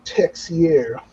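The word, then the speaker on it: Texeira: now and i still i like mark mark texiera or mark is it mark tashera is it you know and i'm like wait that's a baseball player hold on a second so you have to try to figure it out yep that's taxier yeah linda says she remembers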